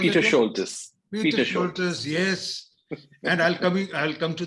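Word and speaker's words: Peter Scholtes: How do you pronounce it? Peter Schultes. Peter Schultes, yes.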